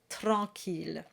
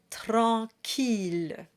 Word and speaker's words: tranquille: Watch out for the Q-U combination. In French, that's a K sound. So the syllable is qui, not qui. And here the double L is a true voiced L sound. It's not a Y sound like we had in scintillement.